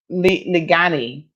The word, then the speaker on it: Ligani: Listen, Ligani, Evelyn says that's how it's pronounced. Ligani, is that right?